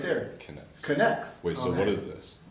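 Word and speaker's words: Knex: a soul anymore hey look it has a pronunciation right there connects connects wait so what is this so i actually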